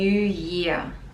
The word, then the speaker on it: year: Happy New Year. Happy New Year. Year, it kind of ends with a schwa sound.